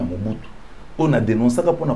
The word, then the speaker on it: Mobutu: Et coïncidait ma ben à Équateur pour prononcer Hutu te pour prononcer Mobutu, c'est comme ça les messieurs c'est Mobutu.